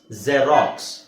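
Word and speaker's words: xerox: ಜೈಲಫೋನ್ ಜೈಲಫೋನ್ ಹೇಳಿ ಜೈಲಫೋನ್ಲಫೋನ್ ಅದೇತರ ಇದು racks ಜೆರಾಕ್ಸ್ ಜರಾಕ್ಸ್ ಜೆರಾಕ್ಸ್ okay ಜೆರಾಕ್ಸ್ machine next ಯ ಯಾಕ್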